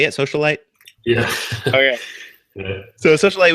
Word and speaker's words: Socialite: Socialite?